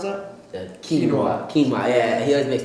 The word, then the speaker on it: quinoa: How do you pronounce that? Quinoa.